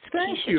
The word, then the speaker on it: Keshea: And Keshea, help me pronounce your first name. Hello. You said it exactly right. It is Keshea, and we are Washita Parish.